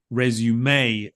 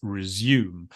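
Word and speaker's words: résumé: just and basically then when you don't have that resume sort of emphasis or stress at the end then you would basically pronounce it as resume now that's going to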